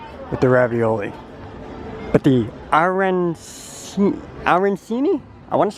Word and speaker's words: arancini: It's arancini? Very close to arancini. Arancini! I forgot the chi.